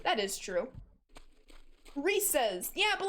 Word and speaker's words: Reese's: It's pronounced Reese's? That's so lame. Reese's. It's just so much cooler. Just like you pronounce the name Reese, but possessive. That is true. Reese's.